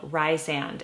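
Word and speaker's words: Rhysand: And this one, in this book, there's a newer character called Rysand. And I think you pronounce his name Rysand, but I like Rysand in my head.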